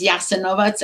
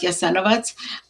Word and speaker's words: Jasenovac: Croatia now, in Serbia, it's referred to often as Jasenovac and not Jasenovac. I am using the pronunciation that we used in Ludbreg, and that's Kajkavski dio of the world. It's a certain dialect, so just so the people understand that.